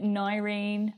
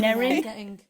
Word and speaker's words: Nerine: I get Nyrene, I get Nairene, I get Nerone. Nerine. Nerine. Sorry, I just feel that. Yeah, Nerine. Nerine.